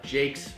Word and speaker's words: Jacques: At Jacques, and Jacques, we say it a little funny. It's spelled Jacques. Yeah, it's like Jack. It's like Jacques, yeah.